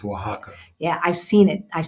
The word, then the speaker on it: Oaxaca: Yes, and I cannot pronounce that place, but I think it's Oaxaca. in Mexico. It's Oaxaca.